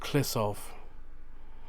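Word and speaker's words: Kliszów: but so i did i did pronounce it wrong it is pronounced klissov sorry about that to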